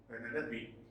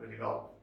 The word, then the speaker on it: Penelope: He was the king of Ithaca, and his faithful wife was Penelope, not Penelope. Penelope was his wife, and if you remember, their son was Telemachus.